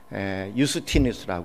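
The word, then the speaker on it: Iustinus: 그분의 실제 로마 이름은, 저스틴은 영어식 발음이고 실제 그분의 이름은 유스티누스라고 그렇게 얘기하죠. 유스티누스, 로마 이름입니다.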